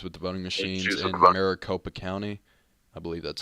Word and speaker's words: Maricopa: of uh issues with the voting machines in Maricopa County I believe that's how you pronounce it right Maricopa but Peter uh says that the issue was